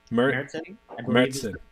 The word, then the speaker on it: Märzen: Märzen.